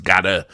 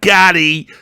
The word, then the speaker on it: Gadde: videos I did, because I thought it was Gadda, but it's Gadde, like Gaddy. It's like that.